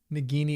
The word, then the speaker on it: Nagini: Nagini is with a hard G. Comes from the Hindi word for snake.